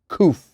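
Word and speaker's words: קוף: KOF Q pronounced KOF.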